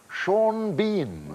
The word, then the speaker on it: Sean Bean: it shawn and then he pronounces it bean and it's both why isn't he seen